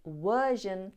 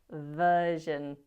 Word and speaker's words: version: Evaluate should have been evaluate, value should have been value, and version should have been version.